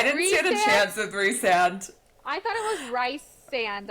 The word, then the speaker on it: Rhysand: And so I didn't know for years that I was saying this man's name wrong. Years. Even in the audio, they're like Rhysand. Yeah. Like, I still say Rhysand, but they're like Rhysand.